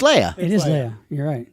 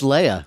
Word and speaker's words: Leia: Lee I mean here's the thing though it's Leia yeah it's Leia you being it wrong all these years like